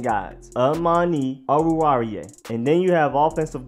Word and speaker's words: Oruwariye: I feel like I'm having to pace myself when I say it, but that's the way to say it. That is the way it says on the Penn State pronunciation guides.